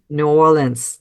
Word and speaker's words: New Orleans: New Orleans Yes Yes actually the more the more it just slides into like one syllable nans like some people just say nans like nullin and and it's okay that's when they know that you're local but the stress there is on the all part isn't it New Orleans